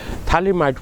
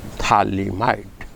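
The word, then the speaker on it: phthalimide: g-a-b-r-i-e-n gabriel thalamite reaction mark the spelling thalimite it is ph ph here p remains silent p h t h l i m i d thalimide formula is it is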